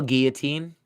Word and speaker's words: guillotine: How do you spell guillotine?